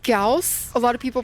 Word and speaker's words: Gauss: But it is it is pronounced Gaus. A lot of people pronounce it Gauss.